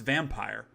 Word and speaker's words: Vampyr: It is spelled Vampyr, but it is pronounced Vampire.